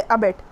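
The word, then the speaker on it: abet: जैसे अबेट, आपने हल्का सा बोला बेट, तो हमने जोर दूसरे वाले साइलेबल पे दिया है, बेट।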